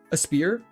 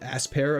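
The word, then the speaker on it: Aspear: A spear. Trying to work on pronouncing it properly because people get mad when I call it aspair apparently. Even though that's literally what it is.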